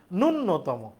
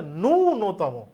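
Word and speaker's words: ন্যূনতম: উচ্চারণটা করি বলার সময় ভুল বলি আমরা বলি নূন্যতম আসলে এটা শুদ্ধরূপ হচ্ছে উচ্চারণ হচ্ছে ননতম আমাকে বলতে হবে কি ন তারানে জফলা শুরুতে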